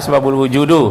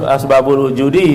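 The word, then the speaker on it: أسباب الوجود: Tak boleh bacanya asbabul wujudu, harus asbabul wujudi karena ini adalah mudhaf ilaih.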